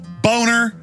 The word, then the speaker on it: Boehner: yeah well know he the name is German it's a nice name it's pronounced boner and he his whole life he even had ad campaign say it's Boehner not boner hey if your if